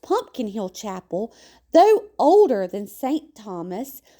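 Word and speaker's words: Pompion Hill Chapel: Interestingly, Pompeian Hill Chapel, pronounced Pumpkin Hill Chapel, though older than St.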